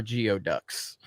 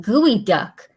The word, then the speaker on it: geoduck: geeks and gamers are geo ducks i didn't even understand what that was like i watched the floor is yours it's not pronounced geoduck it's pronounced gooey duck and it's the most